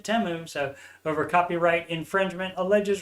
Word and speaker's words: Temu: Thought it was Temu forever, but Super Bowl ad, they pronounced it Temu.